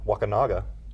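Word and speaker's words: Wakunaga: come from um another neat story is um wakinaga which I just learned how to pronounce properly yeah it's not wakanga yeah Waka wakas that sounds a lot worse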